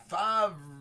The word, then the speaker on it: Favre: Favre. It's exactly how it's pronounced.